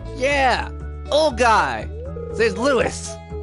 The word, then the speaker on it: Lewis: His name's Lewis! Or Louis. No, Lewis.